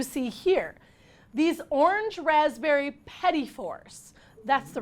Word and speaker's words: petit fours: These orange raspberry petit fours.